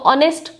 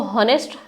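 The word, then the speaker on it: honest: लगा दिया है तो ऑनेस्ट अगर आप पढ़ते हैं अगर इसको मैं उर्दू में लिखूं तो इसको नेस्ट तो नहीं पढ़ते हम ऑनेस्ट पढ़ते हैं यानी एच साइलेंट कर देते तो हमारा जो वर्ड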